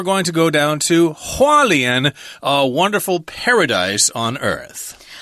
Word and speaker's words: Hualien: but I realized that that's taiwanese accent charleon hualien is how it's supposed to be pronounced but we'll talk about wonderful scenic and